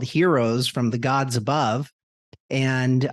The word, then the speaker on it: Hearos: this brand name called heroes from the gods above and uh the unique thing about how I spelled Heroes was it's spelled h-e-a-r like I hear you o s and that